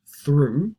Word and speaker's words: through: for one of the frequent words that is pronounced through not so many other ones and it's going